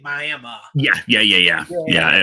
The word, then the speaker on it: Miami: were in Oklahoma it's it's spelled Miami they say it Miami yeah yeah yeah yeah